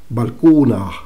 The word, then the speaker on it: Balkuunah: Balcuna, balcuna, balcuna. Esa sería la pronunciación de esto que está escrito, por lo menos en un códice.